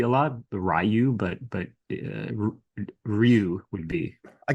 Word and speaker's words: Ryu: So, so the Japanese pronunciation is Ryu, which is Yeah, it's it's Japanese for dragon, but the closest acceptable sort of English language pronunciation would be Ryu, but Rayu is is just silly